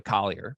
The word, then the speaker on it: Collier: I keep mispronouncing his name, by the way, Collier.